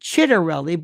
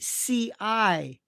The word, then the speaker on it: Ciattarelli: He goes by the name Chittarelli, but that would be Citarelli. Chittarelli. It's CIA, which is Cha or Chia Torelli.